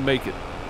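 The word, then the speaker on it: Makeit: illustrated by Betty Wong I guess it's Willie make it right but it's spelled like macket without the c m a k but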